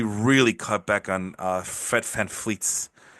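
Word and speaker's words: Fred VanVleet: cut back on uh FedFan fleets. I say it like that because it's it's a Dutch thing, right?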